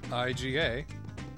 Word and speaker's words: Iga: I-G-A. The syllables are always the same, so Iga.